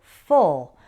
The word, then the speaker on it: full: It's different from the word full, which has an sound, like the same as in pull. It's a very small difference. Fool, full.